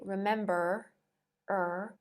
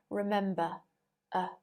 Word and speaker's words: remember: english you might say remember er but in received pronunciation remember uh all of these root